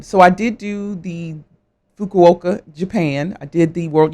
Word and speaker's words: Fukuoka: that we competed against I'm glad you said Fukuoka cuz yeah I could not pronounce it fukoka Japan right and it